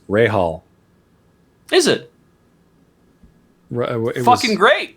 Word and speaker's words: Rahal: Speaking of pronunciation, someone was saying that the racing driver in your story, a couple people in chat were saying that it's pronounced Rahal.